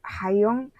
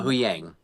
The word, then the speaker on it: Huyang: Personally thought he nailed Hayong. Is that how you say it?" Uh Huyang.